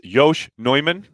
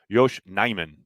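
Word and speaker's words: Yosh Nijman: you thanks for tuning in how do you pronounce yosh neumann well not like that yosh neyman i believe is the correct pronunciation uh billy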